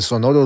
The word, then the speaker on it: sonoro: No, but shout out to Telekinese for that singing the It's actually kind of impressive how he pronounced that right. Which part? When he said al sonoro rugir del cañón, or when he said sonoro.